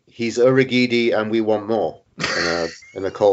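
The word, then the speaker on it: Urhoghide: Is there a received pronunciation now for his name? Urugide? Urugidi, I think, yeah, that's it.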